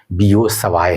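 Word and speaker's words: Biot–Savart: निकालने का जहां पे बायोसेट लॉ में दिक्कत आ रही होती है। आप बायोसेट लॉ ही बोलेंगे। हालांकि प्रोनाउंसिएशन जो है बीओ सवाय है।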